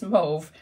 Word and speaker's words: mauve: it where you live where I live it's move rhyming with stove but whatever you call